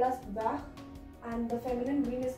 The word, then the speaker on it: vert: Okay, so there is an additional E, that's why the sound comes of vert. The T pronounces here, but not in this case.